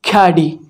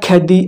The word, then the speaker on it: Khaadi: solution of this thing the right word is caddy again this is caddy not khadi or anything it is caddy is it clear